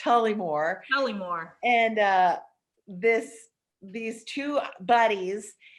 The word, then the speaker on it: Tullymore: Not really, but it's the story of this tiny Irish town, which I won't spell it, but it's pronounced Tullymore.